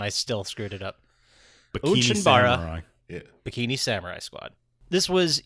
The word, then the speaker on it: Onechanbara: Today we are discussing Onechanbara. Onechanbara. Oh, I asked you right before how to pronounce it, and I still screwed it up. Onechanbara.